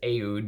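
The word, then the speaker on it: oud: it's called musk food he always does ayud because he says that's how they say it in the middle east but musk ayud um is a sheep for fragrance with the ood edition and this beautiful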